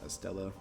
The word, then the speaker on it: Stella: at that real quick it says Stella written as main true body but pronounced Estella which means Celestial star in Latin so